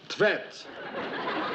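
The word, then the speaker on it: Tvedt: Arnold Tvet. There he goes again. Can't you read anything without mispronouncing it? How would you pronounce that then? Tvet. T-V-E-D-T.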